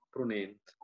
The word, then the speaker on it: Prunent: voi prudente un and no non è nient prunent quindi l'accento sulla preda pruina poco prudenti prudente 2017